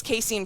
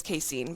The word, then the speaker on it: casein: Yeah, I'm pretty sure it's Caseine. But anyway, eating it before